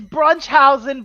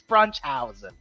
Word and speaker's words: Brunchhausen: It's Brunchhausen, by the way, sweetie. I know we spell it a little weird with all the funny dots over the U and the O and the E that look connected, but I promise it's Brunchhausen.